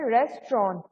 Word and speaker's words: restaurant: Also remember restaurant में ना T silent होता है पीछे वाला. We just say restaurant.